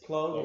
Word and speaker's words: Plog: It's not like a plug. No. It's Plog as in toad, not Plog as in frog.